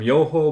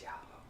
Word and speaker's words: Yoho: and trying the Boku Beer Kimi Beer from Yoho Brewing. It's Yaho.